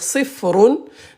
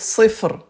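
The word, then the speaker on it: صفر: Donc quand on s'arrête, on prononce pas, on va pas prononcer la dernière voyelle. C'est bon ? Donc si je continue donc je vais dire sifron mais si je m'arrête, je vais dire sifre.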